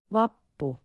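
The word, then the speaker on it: Vappu: It is vapu pronounced vapu."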